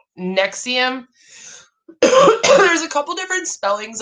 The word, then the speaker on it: NXIVM: that was us authorities began investigating nexium pronounced nexium there's a couple different